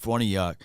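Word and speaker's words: Farniok: for New York right this is how you say his name Matt fornayak to the act of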